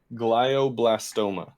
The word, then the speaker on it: glioblastoma: to make a fool of myself trying to pronounce that but i haven't pulled up was it gliobla i got it glioblastoma there we go okay yeah yeah so you